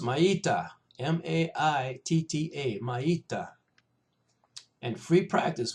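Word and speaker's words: maitta: We don't use this much in the dojo, but it's pronounced maita, M-A-I-T-T-A, maita.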